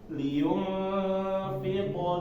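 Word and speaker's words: لِيُنفِقْ: Liyunfiq dzu sa'ah. Ini fi ya, fi. Nah, banyak orang-orang kalau belakangnya sebelumnya kasroh itu jadinya ya, fiqh. Nah, ini keliru.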